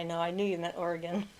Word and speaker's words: Oregon: I knew you meant Oregon, not oregano. My sister calls it Origon. She She doesn't know that we don't pronounce it that way.